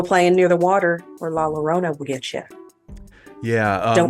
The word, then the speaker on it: La Llorona: But if I'm not mistaken, everybody pronounces it with the L.